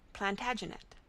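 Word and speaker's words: Plantagenet: The Latin name for broom is plant janista and gradually it came to be pronounced plantaginet.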